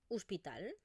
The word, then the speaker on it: hospital: Por ejemplo, podríamos tener la palabra hospital. Fijaros que la escribimos con una O, pero realmente lo que yo pronuncio es una U.